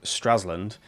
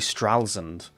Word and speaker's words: Stralsund: with apologies, is uh the town that I've been calling Stralsund is actually Stralsund.